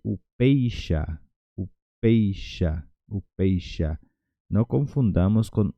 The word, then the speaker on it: upeixa: Y upeixa. Upeixa. Upeixa. No confundamos con upeicha, porque cuando tenemos CH, por ejemplo, en español la pronuncia es che.